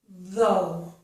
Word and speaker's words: though: This word, though, has the voiced TH, and that's the same sound as in the words that and the. It's th, th. I don't know if you can hear that. I'm really trying to force it. That, the, though. Okay? The TH here sounds like the TH in these two words.